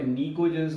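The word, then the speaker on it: pnictogens: इनको in short निकोजेंस बोला जाता है, टी साइलेंट रहता है.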